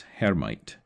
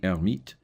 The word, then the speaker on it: Hermite: French, and in the English language, people mostly mispronounce it was "hair-mite." So it should be Hermite, but it's usually pronounced "hair-mite."